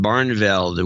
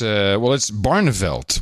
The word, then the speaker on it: Barneveld: Susie Brown in Barnveld, Wisconsin. 200. I'm sure the pronunciation could be better, but she's actually from Madison. So it's Barneveld, which is a fine Dutch name, actually.